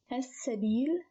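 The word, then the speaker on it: السبيل: which is a moon letter, so it is pronounced as al-qurba. No change here. Al-miskin, also a moon letter, mim. As-sabil.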